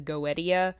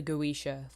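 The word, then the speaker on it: Goetia: can't remember second thing I Mis pronounced the word goisha that's my bad I was calling it uh the goia the Lesser key of Solomon the king it's it's pronounced the goisha ler kid Solomon the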